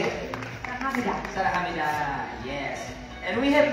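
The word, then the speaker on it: 사랑합니다: Saranghamnida.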